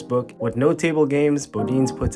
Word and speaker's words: Bodines: Bodines. Pizza, pasta, and steaks. I really think it's pronounced Bodine.